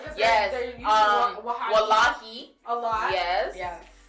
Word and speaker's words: wallahi: they're using Wahabi Wallahi. a lot. Yes. Yeah. Say Wahali. Like how do you say it? Say Wallahi. Say wallahi. Say Wahali.